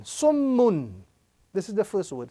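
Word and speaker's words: صُمٌّ: Sad, meme, tashdid, dhamma, sum, and meme, tanween, dhamma, mun. Summun. This is the first word. Summun.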